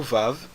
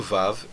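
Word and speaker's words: וָו: Antigamente, o som do Vav era o som semiconsonantal W, como por exemplo o W americano, certo? Então, na verdade, eles diziam uau. Mas hoje em dia, no hebraico moderno, nós pronunciamos o Vav como um V. Então é assim que nós também vamos pronunciar nessa aula.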